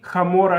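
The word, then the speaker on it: המורה: new teacher says, Ani hamora shelachem, I am your donkey. She wants to say hamora, I'm your teacher, but she pronounces hey like het, so it sounded like she's saying I'm your donkey.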